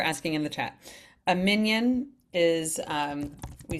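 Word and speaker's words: minyan: A minion is um we spell it like this usually. minan is the is a really Hebraic way to pronounce it and that means um yeah um thanks Koko.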